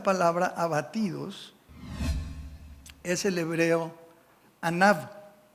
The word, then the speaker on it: Anav: El hebreo de esta palabra abatidos es el hebreo Anav. A N A V con acento en la segunda A.